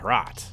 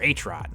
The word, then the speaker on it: HROT: just dropped and it's called rot or hrot or wrote To be honest I'm not really sure how to pronounce the title but no matter what